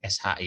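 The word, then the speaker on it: し: Dan jangan lupa ini dibacanya SHI ya, ada H-nya.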